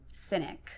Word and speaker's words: Sinek: Cynic. Cynic, okay. Yeah. Don't ask me to spell it.